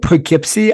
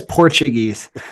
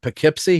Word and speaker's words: Poughkeepsie: Poughkeepsie. I keep reading it as Portuguese.